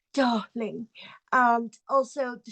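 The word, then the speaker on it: dahling: an H instead of an R so it's pronounced darling and also the say on Instagram it's disabled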